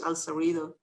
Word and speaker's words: El Cerrito: i had no idea that that's how you pronounce it in english al cerrito and then i i did something just like